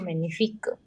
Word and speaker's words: magnifique: Whenever G and N comes together, G is silent. Magnifique. This silent. The sound of QU is K, not Q. This is K.